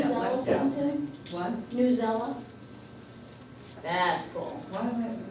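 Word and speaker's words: Newsela: How to spell that? Yeah. New, like N-E-W, and then S-E-L-A, Yeah. New Zella.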